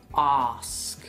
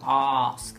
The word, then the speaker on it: ask: Por ejemplo, la palabra preguntar sería con un acento muy británico, sería ask. Ask. Con el tercer sonido, ask, la A larga.